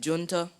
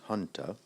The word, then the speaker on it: junta: might pronouncing it right junta yes can also be pronounced Hunter junta j-u-n-t-a Junta that's right